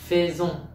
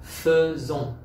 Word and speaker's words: faisons: Ngôi thứ nhất số nhiều, nous, đã lẽ học là faisons, nhưng phải đọc là faisons, faisons.